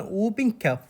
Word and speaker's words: whooping cough: اذا سمعاني بالسعال الديكي، السعال الديكي اسمه اوبن كف. لا تلفظون الدبليو اتش، يكتبوها اوبن كف، يعني تقروها اوبن كف، الدبليو اتش ما تلفظ.